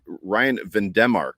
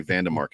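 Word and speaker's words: Van Demark: And then for the second group of offensive linemen, Ryan Vandemark is how Josh has been pronouncing his name. So I don't think we're allowed to say Vandemark anymore.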